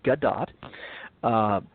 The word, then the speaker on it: Gadot: That is actually how you're supposed to pronounce her name, Gadot, as Wonder Woman, of course.